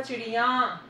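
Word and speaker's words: चिड़ियाँ: Okay, अगर एक वचन है चिड़िया, देखना मेरा प्रोनाउंसिएशन देखना बेटा, चिड़िया, इसका बहुवचन होगा चिड़िया, चेंज है ना? Yes ma'am. हाँ जी, या है वो या में बदलेगा, चंद्रबिंदु आएगा।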